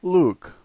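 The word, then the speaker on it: лук: The first letter is L, the second letter U, and we're all familiar with the K sound, and so this word is Luke, Luke.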